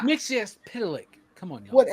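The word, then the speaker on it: Mxyzptlk: It's Mitch Pitilik. Come on y'all. Whatever, man. They say it like eight different times. It's like Tinian and Tinan. No, it's not. It's Tinen and it's Mix Pitilik.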